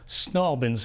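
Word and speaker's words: St Albans: I own and run West Street Digital Recording up in Albans, as the locals say, St. Albans.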